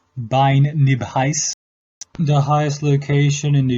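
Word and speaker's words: Beinn Nibheis: is been nervous in Scottish Gaelic it is pronounced bine nib highs the highest location in the united states of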